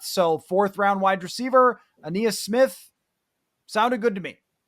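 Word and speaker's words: Ainias: Aeneas Smith from Texas A&M. Is that how you pronounce his name?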